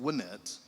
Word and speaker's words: Wynette: Uh spelled like Timmy Wet, but pronounced Winnette.